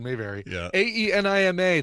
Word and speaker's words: Ænima: pronunciation may vary yeah ayyy ni ma that's the song not the thing that goes up your butt here is the hunt